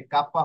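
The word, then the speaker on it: Kappa: আর এই যে কাপ্পা, কাপ্পা কিসের মতো হবে? কাপ্পা হবে কে এর মতো।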